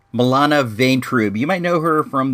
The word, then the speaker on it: Milana Vaintrub: Her name is, I believe it's pronounced, Milana Vaintrub.